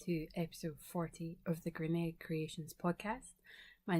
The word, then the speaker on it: Grianaig: but it is pronounced Grianaig. So it sounds like a K on the end, even though there isn't a K in the name.